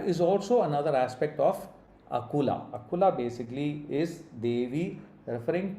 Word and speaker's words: Akula: This is Akula, not Akula. Be careful when you pronounce the Sanskrit.